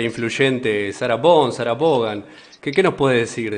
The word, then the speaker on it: Vaughan: hay que decir que la pronunciación correcta es Sarah Vaughan, pero para una gran parte del público es Sarah Vaughan. Así que bueno, no está mal tampoco nosotros referirnos a ella de las dos maneras, ¿no?